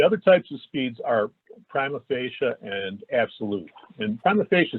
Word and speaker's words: prima facie: The other types of speeds are prima facie and absolute. And prima facie speeds, again, prima facie, it's a Latin term pronounced prima facie.